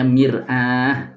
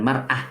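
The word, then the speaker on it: مرآة: Bacanya mirah bukan marah.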